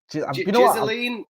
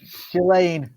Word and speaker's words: Ghislaine: Ghislaine? Is it Ghislaine? Sounds very wrong. That sounds like some horrendous porn act. Ghislaine. I think the S is silent. Ghislaine Maxwell.